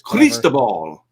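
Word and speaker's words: Cristóbal: Nobody knows how to pronounce it. It's either Christoal or Crisal or it's Christoal. Yeah. In Spanish.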